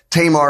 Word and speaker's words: Tamar: two people, Amnon and Tamar or Tamar. Tamar is kind of the anglicized way to say her name, and that's probably the one I'll go with today.